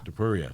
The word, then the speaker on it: Topuria: Topuria? Topuria.